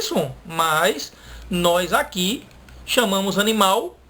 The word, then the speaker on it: animal: A palavra animal, que a gente pronuncia com som de U, a gente deveria pronunciar animal, com som de L.